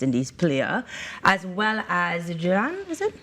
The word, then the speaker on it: Jhulan: and former West Indies player, as well as Jhulan, is it? How do I pronounce? Yeah, Jhulan.